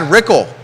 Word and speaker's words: Rickel: Pruitt TJ fatally Brad rickel rhymes with pickle current Board of Supervisors